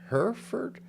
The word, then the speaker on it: Hereford: I said, is it Hereford? Hereford? But they straightened me out. It's Hereford. And if you want to know where Hereford, Texas is, it's about 40 miles uh, west, southwest of Amarillo, Texas.